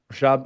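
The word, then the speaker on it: Rishabh: Rashab, is that the right way to say that? Yep. Rashab.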